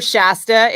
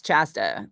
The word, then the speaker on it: Chasta: You know, so many people call her Shasta. It makes me crazy. And I'm like, it's Chasta. It's clearly spelled with a CH. It's Chasta. It's not Shasta.